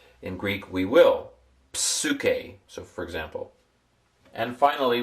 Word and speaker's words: psyche: Psyche. It's a PS sound in Greek. In English we don't pronounce the pine, the P. In Greek, we will. Psuk.